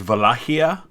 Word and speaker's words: Wallachia: they call on here wallachia and two things i learned that i did not know so thank you guys for that number one that it's probably best pronounced as vallajia so valahia is i'll probably try to